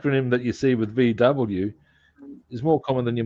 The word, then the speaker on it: VW: Okay, now you'd be familiar with the Volkswagen being well, we call it VW, Yeah. but the Germans call it FV, just because that's the way they pronounce it.